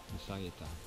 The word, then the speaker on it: Lizarrieta: Alors ça s'écrit Lizarrieta, mais c'est Lizarrieta, ça se dit un S. Le Z en Espagne, enfin au Pays Basque, ça se dit S. Lizarrieta.